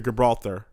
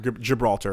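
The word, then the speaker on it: Gibraltar: And then I made a switch to Gibralar. Gibralar. Yeah. And now Gibralar. Gibralter. Gibralter. Excuse me. That's how it's pronounced.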